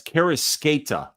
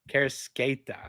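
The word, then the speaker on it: Kareckaitė: It's Karasketa. So like the C is like an S. So Karasketa. Okay. Karasketa.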